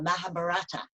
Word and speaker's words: Mahabharata: We have the I Ching from China, for example, and a wonderful Indian epic called the Mahabharata, which is fabulous. You pronounced that correctly.